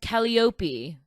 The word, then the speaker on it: Calliope: And she says Calliope, and that's not how we would pronounce it in the States.